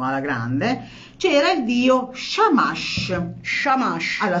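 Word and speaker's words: Shamash: grande c'era il Dio sciamash sciamash alla Si si dice sciamasce si scrive samas in cuneiforme ma noi non ce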